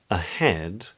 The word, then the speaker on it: ahead: So in a word like ahead, head is the stressed syllable, and the A at the beginning is unstressed.